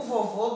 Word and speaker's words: vovô: O vovô dormiu. Vovô. Ó. Vovô. A segunda sílaba foi a sílaba que mais se alongou. E o som foi de O.